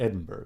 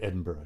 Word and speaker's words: Edinburgh: I've been to Edinburgh. That's the only place I've been in Scotland. I guess I should say Edinburgh, shouldn't I? We Americans say it improperly, don't we?